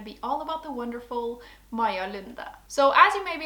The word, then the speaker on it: Maja Lunde: all about the wonderful Maja Lunde. So as you may be able to tell by the way that I say her name, Maja Lunde is Norwegian. She was born in 1975